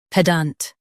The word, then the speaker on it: pedant: pedant Now read the syllables shown on the screen naturally. ped ant pedant Emphasize the ped and keep ant light.